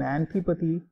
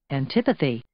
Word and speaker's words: antipathy: And one example sentence is, after serving in the war, he developed an antipathy to guns. Okay, that means he doesn't like guns anymore. Let's look at its pronunciation on Merriam-Webster's. Antipathy.